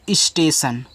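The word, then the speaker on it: station: टी आई ओ एन इसको पढ़ते हैं स्टेशन देखो यहां पे आप एस से टी सटे हैं ऐसे आपका आधा सा टी सेट अब यहां ए का उच्चारण एक ही मानते हैं एक रूप में और टी आई ओ एन को पढ़ते हैं सन तो स्टेशन ऐसे टी आई ओ एन को सन पढ़ा जाता है ये आप याद रखना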